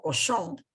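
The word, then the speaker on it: Cauchon: la figura del obispo cosón que curiosamente en francés el apellido Este señor se pronuncia igual a la palabra cerdo aunque se escriba de diferente manera Entonces el nombre le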